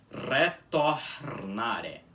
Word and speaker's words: retornare: Primeiro de tudo, a mesma coisa que acontece na outra palavra, o R inicial também fica com som de R, como vocês podem bem perceber. Porque ele é inicial, então tem que ficar forte, assim.